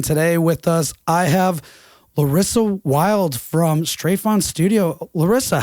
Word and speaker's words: Larissa Wild: So it's pronounced in German because I'm from the German-speaking part of Switzerland. So you would say Larissa Wild.